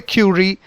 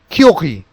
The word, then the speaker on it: Curie: How do you pronounce this word? Okay, this is not Pierre Curie, it is not Pierre Curie, but it is something different.